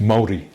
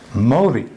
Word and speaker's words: Māori: Māori. Māori. Yeah. Almost as in Mori, the Japanese name.